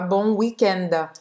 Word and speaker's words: weekend: Esse D, a gente fala bon weekend.